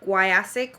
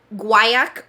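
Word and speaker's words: guaiac: of pachuli Ceda wood gu guc wood uh-uh that's not how that's pronounce hold on guak wood vanilla white musk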